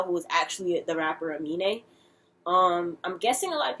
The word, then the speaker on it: Amine: And it's spelled A-M-I-N-E. Not anime, Amine.